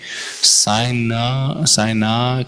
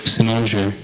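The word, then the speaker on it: cynosure: I was saying like Sai-na, Kai, Kaina, and then my Gurudev just says Cynnosure.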